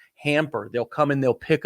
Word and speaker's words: Hampr: It's called Hamper. It's spelled Hampr. Hamper.